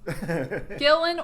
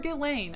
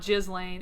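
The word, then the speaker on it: Ghislaine: Gillan or Gileain. I've heard it both ways. So I say I I say you can say it both ways but it is not gizlane.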